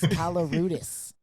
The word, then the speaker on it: Koloroutis: I was going to pronounce it wrong again, Koloroutis. Yeah, what's going on? It's Koloroutis.